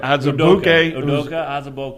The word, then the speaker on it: Azubuike: All right, Azubuike.